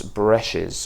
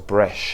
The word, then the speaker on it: Breches: Now this is their version of Tom Ford's Moss Bresches, or Breche, I think that's how you pronounce it.